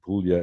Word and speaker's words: Puglia: Julio PU GLI yes announced Puglia as in million that book Lea okay